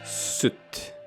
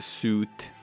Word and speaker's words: soot: It's pronounced soot. Is it? Yeah. It is not suit. Oh. A man wears a suit.